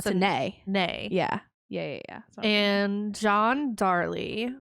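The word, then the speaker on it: Latané: There's an accent on the E, so I think it's Latine.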